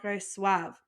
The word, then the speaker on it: reçoivent: So a little quick pronunciation, we have je reçois, tu reçois, il, elle, on reçoit, nous recevons, vous recevez, and il, elle reçoivent.